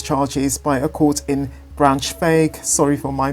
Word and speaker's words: Braunschweig: However, formal charges against Bruckner by the court in Braunschweig, I've mispronounced that, Braunschweig, have been delayed due to confusion over where